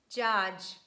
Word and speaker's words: judge: too much that's why we just omit letter d in pronunciation and we pronounce j sound instead and we say badge edge fridge judge bridge letter d is also